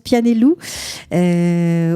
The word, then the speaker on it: Pianello: Ça s'appelle Pianello, Pianellou. Ça s'écrit Pianello, ça se prononce Pianellou, autour d'un greffon de